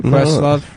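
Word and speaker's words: Questlove: Is that how you pronounce it? Quest Love. Yeah. What the I thought it was question mark.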